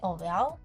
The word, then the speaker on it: Aurelle: So I actually pronounce it as Aurelle of Tampines. People say Aurelle, not Aurelle, not Aurelle, it's just Aurelle.